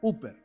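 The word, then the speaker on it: ὑπέρ: En la Biblia la preposición por en griego es hiper oer. Se escribe h y p e rer. O también se escribe h p e r. Uper y significa en lugar de y en nombre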